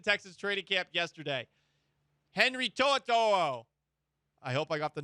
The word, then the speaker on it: To'o: Henry To'o.